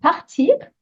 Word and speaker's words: part: which is the verb partir. This time you're conjugating it for le train. So let's see how you go with that one. The answer is part, without the T being pronounced.